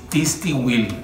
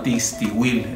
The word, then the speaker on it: Tixtihuil: El famoso Tistihuil, así se llama, Tistihuil. Es un poco difícil de pronunciar, ahí se lo voy a dejar en